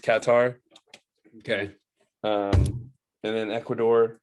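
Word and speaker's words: Qatar: the group our first and second it's actually pronounced katar okay um and then Ecuador senagal and the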